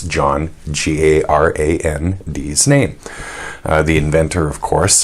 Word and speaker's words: Garand: G heart is Ingo first a short as in harry second a somewhat more obscure as in errand accent on the first syllable or according to the